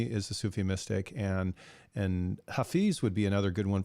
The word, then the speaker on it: Hafiz: is Hafiz, or sometimes people pronounce it Hafiz. It's Hafiz, and so Hafiz was very